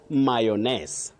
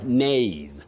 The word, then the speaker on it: mayonnaise: That sauce is not mayion. Mayones. No. Mayion. No. You say mayo then. Mayonnaise. Mayonnaise. Mayonnaise very tricky but manageable. Yes, mayo. Then the stress comes in nays or nay mayonnaise but not mayonnaise.